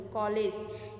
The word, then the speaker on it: कॉलेज: तो कॉलेज, ये जो आ का उच्चारण होता है, ये तो ना आ बोला जाता है इसे, ना ओ बोला जाता है, बल्कि इसका थोड़ा सा मिडिल में होकर के इसका उच्चारण बोलते हैं अ।